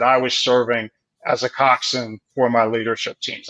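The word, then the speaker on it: coxswain: because there are no cxn stands for the coxen and that's if you spell it out the word is spelled cxw and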